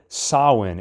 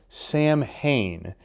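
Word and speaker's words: Samhain: he's written the word sawin in blood Lumis explains that it refers to the Celtic lord of the Dead first off Lumis mispronounces the word as Sam Hayne and second why does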